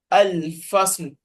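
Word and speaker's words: الفصل: Yeah, so al-fasl. I think let's make sure we pronounce this one very well because we are going to pronounce the last letter as sukun.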